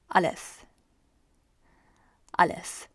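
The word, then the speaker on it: الف: the first letter is Alice Alice it's almost like a lift except just drop the T unnethe uh-hmm lifts I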